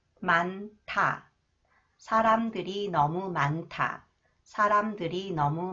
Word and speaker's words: 많다: next one the cons comes thees with 타 만타 사람들이 너무 많다 사람들이 너무 많다 사람들이 너무